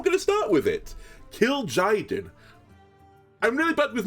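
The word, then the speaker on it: Kil'jaeden: really help me but I believe it's kill Jen is how it's like said 7- 77 demon battlecry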